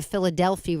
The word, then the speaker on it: Philadelphi: allows routes, particularly the Philadelphia route. It sounds like Philadelphia, and it's spelled like Philadelphia without the A, Philadelphia route.